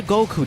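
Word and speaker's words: 五: The numbers five and nine in Japanese are pronounced go and kyu respectively, which combined sound like Goku.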